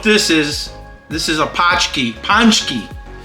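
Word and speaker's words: paczki: don't know what this is this is a pki ponki it's spelled p a c z k i and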